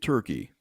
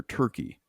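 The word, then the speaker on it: Türkiye: pronouncing it different now right let me just pronounce it for you you ready so the country of Turkey for you know since 1920s when they became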